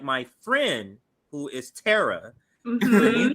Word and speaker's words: Tara: So, but yeah, Tara is the pronunciation.